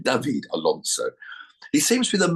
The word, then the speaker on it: David Alonso: um um David Alonso David I pronounce it in Colombian David Alonso he seems to be